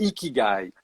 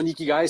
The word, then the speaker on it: Ikigai: un mot japonais pour expliquer ça, c'est le ikigai.